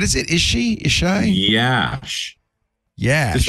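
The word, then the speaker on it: Iași: and in what is it is she isai Yash yes just like it's spelled y just like with two eyes y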